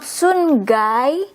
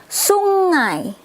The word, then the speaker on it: sungai: We have to say this n and g together. It's not like n and g separate, but we say it like when you have to say ringing, the there, it's the here. So it's not sungai, not sunjai, but sungai, river.